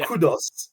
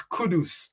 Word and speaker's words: Kudus: It's not Kudos, it's Kudus.